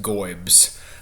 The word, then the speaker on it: GOIBS: uh pronounced gobs uh which I've mentioned a couple of times my college football fandom.